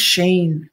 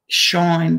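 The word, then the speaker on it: SHEIN: Oh, it's pronounced Sheen. Okay, Sheen, but it's spelt like that, Shine, but it's Sheen.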